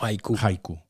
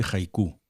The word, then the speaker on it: haiku: O haiku. Haiku. Yo creo que es haiku porque de hecho a veces se escribe con J.